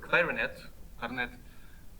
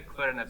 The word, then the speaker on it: clarinet: So in standard English, the word clarinet has stress on the first syllable. It had a clarinet solo. Yeah, but he plays the clarinet. A native speaker would say it with this accent because the English language doesn't like stressed syllables to be close to each other.